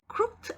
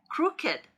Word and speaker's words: crooked: crooked 아니고 crooked, crooked 이렇게 발음해요.